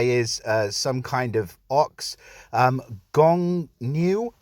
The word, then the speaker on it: Gongniu: Gongniu, I believe is the way you say his name.